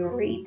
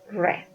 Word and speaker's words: read: No decimos read because we say read in present, but in past we say read.